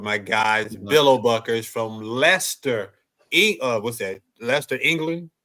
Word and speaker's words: Leicester: I didn't know how I'm pronouncing the C in Lester.